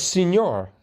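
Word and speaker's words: señor: But what about senor? That's spelled S-E-N-O-R, and that sounds like an E.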